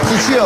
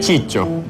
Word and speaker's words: Ciccio: Sisio. Iya. Halo. Jadi Sisio atau Ciccio? Sebenarnya itu kan nama Itali. Kalau nama yang maksudnya pronunciation yang benernya Ciccio.